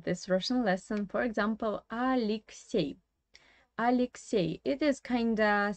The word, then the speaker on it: Алексей: So you see that we have two E here again, but the first one is pronounced like E, yeah, and the second is pronounced like E.